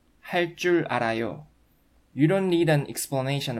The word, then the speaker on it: 할 줄 알아요: You remember that 할 줄 알아요 is pronounced with double consonant 쯔 sound according to one of the pronunciation rules that you've just learned.